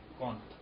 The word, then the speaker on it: کونت: ایک ہمارے پاس انہوں نے فارسی تلفظ اس کا یوں ہے اگست کونت.